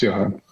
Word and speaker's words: Johann: Yeah, it's Johann.